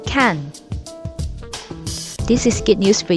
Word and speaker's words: 看: In the Chinese language, watch and read share the same word, and it is pronounced kan.